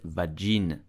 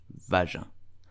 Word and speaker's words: vagin: correctly you will say vaja please do not pronounce it vajin it's vaja I hope you enjoyed this